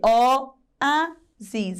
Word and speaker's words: oásis: E oásis também é paroxítona, porque o-a-sis, ela tem três sílabas e a penúltima, que é a mais forte, que é a letra a.